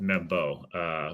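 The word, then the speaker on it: Membou: I'm not sure he's that much better than Armand Membu or Membo, however you want to. Just told it's Membo, which would be interesting because not a single soul is pronounced it that way.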